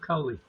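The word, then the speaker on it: Koli: How do you pronounce it? The books of Coley.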